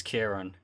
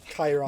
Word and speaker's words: Kieran: My name's Kieran. Every time I raid a Twitch streamer, they pronounce it differently. Chiron. Thank you, Chiron, I've- for the raid. Thank you, Kyron.